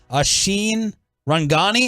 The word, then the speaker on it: Ashine Rangani: we have the Tolo on Peyton all right I hope I'm pronouncing your name correctly ashine rangani ashin is that is that how it's pronounced yeah I mean that's pretty good you said it right I go by